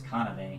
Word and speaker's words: Kanave: I don't want to say it wrong because I keep wanting to say Kasumi, but I know it's Kanave. Yeah.